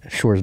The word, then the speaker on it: Sjors: had to remind him point that out that shorts is pronounced exactly as in the femreedom Schwarz NATO